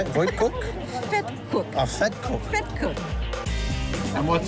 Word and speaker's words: vetkoek: Vetkoek.